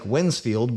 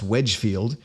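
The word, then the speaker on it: Wednesfield: but we have wednesbury what looks like when's field but is actually pronounced Wedgefield two separate wensleys a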